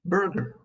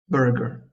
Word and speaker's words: burger: Also, be careful when pronouncing words like Turkish and burger. Don't say them like. Burger. Turkish. Make sure not to add the extra U sound. It's Turkish, Turkish, and burger, burger.